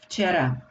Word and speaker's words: Včera: Včera. V, či is very difficult to pronounce, so we say f instead of v. It is because it's easier for our tongue.